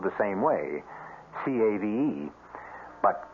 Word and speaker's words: cave: with a latin word spelled the same way c-a-v-e but pronounced cave it means beware our cast included